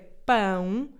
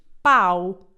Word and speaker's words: pão: Eu sei que há muita gente que em vez de dizer pão, diz pau. E isso pode criar alguma confusão.